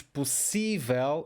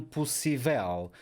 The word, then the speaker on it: possível: a última sílaba Ok as palavras que terminam em El tem um estresse na última sílaba A não ser que haja um acento como é o caso de todas estas palavras por isso é que nós dizemos possível e não possível nós dizemos sensível e